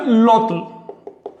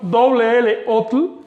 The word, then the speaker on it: lotl: Esta y se contamina con la l, así que eso se pronuncia lotl. Bien, importante, si ven la terminación L otl, lotl, eso en realidad